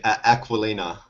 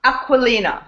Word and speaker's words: Aquilina: L's yeah that's good aqualina aqualina okay aqualina kind of yes it sounds like aqua fresh right very good I'll